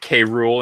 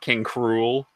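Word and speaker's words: King K. Rool: of those are ya you pronounce it K rule and not kink rule it's there's a there's a period after the cake yeah and there was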